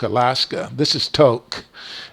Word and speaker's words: Tok: the roughest road is between the border and toke Alaska this is toke it's pronounced toke it's spelled t-ok but it's pronounced toke um